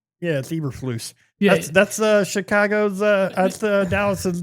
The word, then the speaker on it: Eberflus: It's Eberflus. Yeah, that's Chicago's. That's Dallas's defensive coordinator. Yeah, exactly. He thought he was going to have something on him. Is it Brad Eberflus?